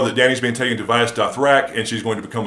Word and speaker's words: Vaes Dothrak: Yes, it's actually pronounced Vaes Dothrak. I thought it was Vaes Dothrak for the longest time, and then I looked it up.